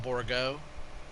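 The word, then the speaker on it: Bourgault: Some people call it the Borgo, but it all depends on where you're from, right?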